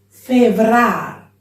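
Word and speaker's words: Fevrâr: Si scrive con la Z, ma si pronuncia G. Genar. Febrar, no febrar. Febrar.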